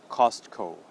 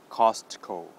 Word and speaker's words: Costco: wholesale store and that is in English called Costco Costco all right again in katakana that becomes coastal